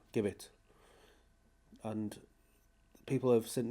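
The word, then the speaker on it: Gibbet: The A421 flying over the top towards Caxton Jib Gibbit, not Jibbit, Gibbit.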